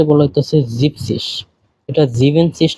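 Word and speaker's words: siebzig: কে বলা হতেছে জেক্সিস 70 কে বলা হয় জিপসিস নট জিভেনসিস একটু ব্যতিক্রম এটা মনে রাখতে হবে 80 কে বলা হতেছে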